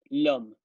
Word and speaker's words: l'homme: del homme, escrito L-O-M, l'homme, que hace homofonía en francés con el hombre, l'homme, que en francés se escribe L apóstrofe H-O-M-M-E. Es el hombre, que a